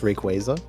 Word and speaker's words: Rayquaza: Uh, actually it's pronounced Rayquaza.